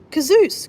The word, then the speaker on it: Kazeus: Oh, Kazeus. Kazeus Adventures. Kazeus Adventures. You asked about pronouncing my name. It rhymes with booze.